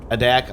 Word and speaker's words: Adak: We're going to be heading from uh Adac, Alaska, I believe is how you pronounce it.